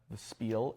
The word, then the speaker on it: Spiel: So Essen, the Spiel, we should say it right, the Spiel in Essen, Germany, they actually like you.